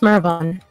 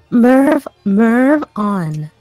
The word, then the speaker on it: Mervon: Yeah, it's Mervon. That's the pronunciation. The pronunciation. Mervon.